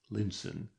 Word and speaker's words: Lion's Town: And here they got on to another line of railway and into a more pastoral landscape and so on to Lion's Town pronounced Linen where they mounted the stage coach which was to take them across the Mo to Camelot.